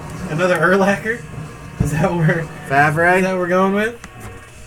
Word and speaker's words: Favre: Brett Favre.